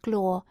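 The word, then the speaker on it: gloire: Divine ambition which he might call lir he pronounced it glore so that Orlando did not at first catch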